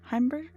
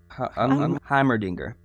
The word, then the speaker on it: Heimerdinger: The professor. Heimberger? Heimerdinger. Yes, Heimerdinger. I'm glad you can remember how that's pronounced.